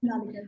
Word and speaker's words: Shonaleeka: That I'm sorry if I mispronounced your name. It's Shonaleeka, right? Yeah. Shonaleeka, yes.